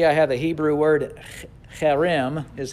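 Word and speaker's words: חרם: You see I have the Hebrew word cherem is how you would pronounce that.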